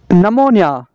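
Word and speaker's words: pneumonia: का के साइलेंट है नोनिया नोनिया का मतलब है नोनिया नोनिया का पी साइलेंट है नेश नेश का मतलब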